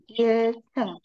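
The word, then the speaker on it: 일층: Sebenarnya lantai satu itu adalah ilceng. Oke, ilceng cara bacanya ceng ya.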